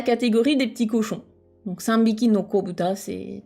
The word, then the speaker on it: 三びき: On va le prononcer plus naturellement, sanbiki.